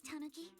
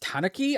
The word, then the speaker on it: tanuki: Miss, based on what you just said, may I assume that you're the owner of this tanuki? It's pronounced tanuki.